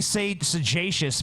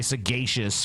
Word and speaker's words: sagacious: But you think it'd be sagacious because it's a soft G in sage, but if you say sagacious, which is like saying sage-like, it's a hard G.